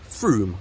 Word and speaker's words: Frome: No, it's another one of those horrible English words that's spelt Frome, but it's actually pronounced Frome, I believe.